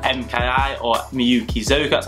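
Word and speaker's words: Miyuki Zoku: So the second brand I want to talk about is called MKI, or Miyukizoka, that's how you pronounce it. It's a Japanese word.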